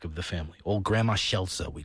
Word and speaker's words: Scelsa: the family old grandma Shela we called her uh which is the Italian way of pronouncing the name skela Shela and uh Franchesca